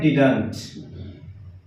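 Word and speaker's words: didn't: डिडंट, या फिर इसका प्रोनाउंसिएशन डिंट भी कर सकते हैं आप, डिडंट या फिर डिंट।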